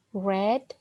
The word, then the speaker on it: read: Ya, tapi bacanya berbeda. Read, read, read. Ya, kalau ada kata have, terus di sini read, berarti ini bentuknya pasti present perfect. Ya, jadi bacanya read. Jangan dibaca have you read, ya salah.